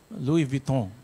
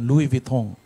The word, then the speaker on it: Louis Vuitton: Louis Vuitton. Yeah, baga yung tamang pronunciation, Louis Vuitton.